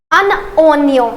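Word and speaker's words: un oignon: next we have अननियम I know the pronunciation here is little difficult but always remember that what we are doing here in order to pronounce it correctly we are actually do doing a लीयज़र here between एन एंड ओ सो आई am connecting this एन with O अन ओन ओनियो आई एम not saying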